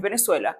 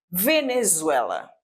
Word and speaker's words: Venezuela: Siempre que tenemos a letra Z debe ser pronunciada Z de una manera vibrante. Entonces yo no puedo ser Venezuela, no es Venezuela, es Venezuela.